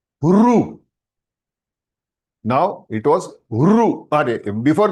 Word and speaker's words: ऋ: Ru. Not Riya. हाथ जोड़ के विनंती करता हूं कि please those who are North Indians, please do not pronounce this alphabet as Ri. It is Ru.